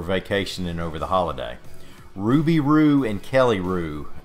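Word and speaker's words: Roux: Their names end in Roo, and that's spelled R-O-U-X.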